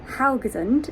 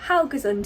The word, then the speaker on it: Haugesund: But we are in the beautiful Haugesund, I believe is the correct way to say it now.